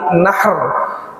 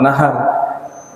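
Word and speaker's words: نحر: Jadi harinya disebut hari nahr. Kalau hari menyembelih namanya disebut yaumun nahr. Nahr hak kecil. Kalau yaumun nahr hak besar, berarti apa? Nahar, sungai. Nah, beda lagi. Jadi harus tepat cara bacanya.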